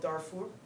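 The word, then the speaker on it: Darfur: that that area called darur I guess in this country how do you say dar dar it's actually daru it's that whole area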